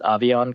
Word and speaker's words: Aviante: And then the other guy I'd keep an eye on is, I think you pronounce it Avion Collins. It's spelled Aviante Collins, but Avion Collins, tackle out of TCU.